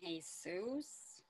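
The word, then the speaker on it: Jesús: it's manolo and jesus and jesus you don't pronounce the j where is there a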